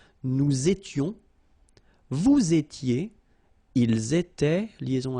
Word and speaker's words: nous étions: Here, little liaison and final S not pronounced. Nous étions, vous étiez, ils étaient, liaison as well here, and then remember, this is not pronounced.